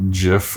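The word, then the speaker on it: giff: name is pronounced okay half of them say it with a hard g and half of the soft g so jiff or a gif oh my god they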